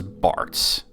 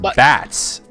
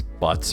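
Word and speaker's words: Butz: PlayStation version it was Barts but in Japan it's it's b-u-t-z which is pronounced bats believe it or not it's it said like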